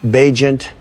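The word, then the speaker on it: Bagent: Travis Badger. I'll take it from here. Barry, and it's pronounced Beagent.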